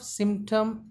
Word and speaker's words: symptom: Sa sound, e sound, ma sound, pa sound, ta sound, a sound, ma sound. Symptom. The stress should be given on very first syllable.